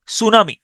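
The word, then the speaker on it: tsunami: প্রথম বর্ণটা সাইলেন্ট থাকে যেমন সুনামি আমি এটার উচ্চারণ করি টি সুনামি টি সুনামি এই টিটা হচ্ছে সাইলেন্ট থাকে টি সুনামি টি এস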